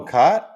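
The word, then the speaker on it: Kaat: Jim Cat, short A pronunciation. Caught. Oh, Cott? Really? Yeah. Oh, I said cat too.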